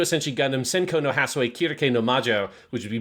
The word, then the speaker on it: Circe: Kirke, which is also the Japanese pronunciation they use. Yeah. Obviously, it's common in English that people call her Circe.